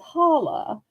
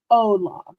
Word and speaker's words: hola: I don't think that's holla. I think it might be hola. I'm pretty sure in Spanish the H is silent, Hmm.